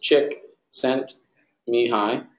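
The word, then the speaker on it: Csikszentmihalyi: Yes, he's got a crazy name, but it's just pronounced Chick sent Mihai.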